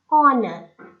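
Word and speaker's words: honour: or nest honor for though the first letter of it is the consonant h but here it is silent so when the words are spoken the opening sound is that of a vowel and when the word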